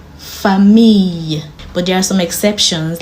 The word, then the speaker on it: famille: When you have 2 L's in a word, it's pronounced ye. For example, fille, famille.